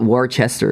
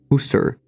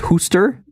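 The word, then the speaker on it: Worcester: gbd and others yeah it's not war Chester it's Hoster it's pronounced Hoster I don't know if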